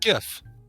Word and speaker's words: Jif: It's pronounced GIF.